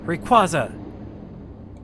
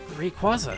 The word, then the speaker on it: Rayquaza: do i summon thee rayquaza hey look at that it worked wow dude someone could have power just summon a random pokemon that's pretty neat that's not how you pronounce rayquaza sorry bud rayquaza i did it i